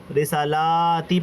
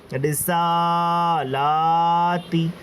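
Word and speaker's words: رسٰلٰتی: مرتبہ غلطی کرتے ہیں، اس کو رسالاتی پڑھ دیتے ہیں یا اس کو رسالتی پڑھ دیتے ہیں، مگر اصل اس کا جو تلفظ ہے وہ یہ ہے رسالاتی۔ جہاں جہاں کھڑا زبر ہے وہاں وہاں کھینچنا ہے، اور جہاں پر زبر زیر پیش ہے وہاں نہیں کھینچنا ہے، اور جہاں پر حروف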